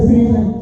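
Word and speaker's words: SZN: But season is spelled S-Z-N. You know what I'm saying? So it's MAGA season.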